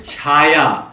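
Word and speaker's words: छाया: Now, the word is Chaya. Chaya. You can do O when it's short A, and that only in some short A's, not all A's become O's.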